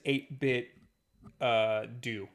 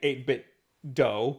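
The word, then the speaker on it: 8BitDo: Bluetooth speakers mm-hmm and when you turn them on it says 8-bit do not doe so there you go I used to say a bit doe because it makes sense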